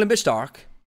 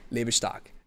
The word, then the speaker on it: Lebe Stark: The bigger picture is, Gregory von Lebe Stark. I said it in the English version, Lebe Stark. Lebe Stark. Gotta say it in the German pronunciation, Lebe Stark.